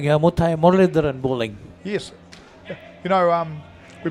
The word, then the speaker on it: Muralidharan: Talking about the bowler's action, Paul, to me it looked like Muthai Muralidharan bowling. Yes. You know, we both said the same name. You just pronounced it correctly.